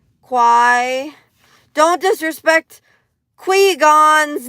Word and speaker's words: Qui: Qui. You gotta get your Qui, everybody. Am I right? Probably should change what? Qui like rhymes with rye. Quai.